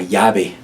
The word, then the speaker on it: llave: La llave. La llave. Be mindful of that double L.